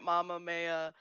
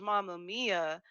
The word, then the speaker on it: Mamma Mia: one messes with mama maya yeah it's still pronounced mia it's just because sam has definitely been calling it mamma maya this entire time yeah absolutely and she definitely